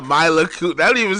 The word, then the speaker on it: Mila: Melina Kunis.